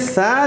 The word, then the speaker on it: ثا: ابھی میں عرض یہ کر رہا تھا ثا کس طرح یہ تلفظ ہوتا ہے. ثا، زبان کی نوک جب اوپر کے دانتوں کے سرے سے دی ایج آف دا top front to teeth کے پاس لگتی ہیں اور ہلکا سا آپ اس کو پھونکیں گے.